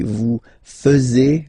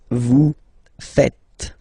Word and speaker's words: faites: And it's quite funny because many French people tend to make the mistake and tend to say vous faisiez, okay? But then no. It's vous faites. Vous faites. Okay? So remember, final S here is not pronounced, and then this is not pronounced either.